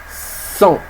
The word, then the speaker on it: cent: Ce nombre se dit 100. Ça s'écrit C-E-N-T. Le T, il est muet.